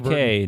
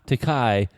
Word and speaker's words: Takei: Or William Shatner or it's George LeVar Takei, not Takai, like you've insisted on pronouncing it for 40 years. Takei, like in toupee.